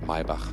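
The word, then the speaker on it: Maybach: of course and the maibak will get the 12th by the way yeah yeah you say my bach that's the german pronunciation not not my bach this is uh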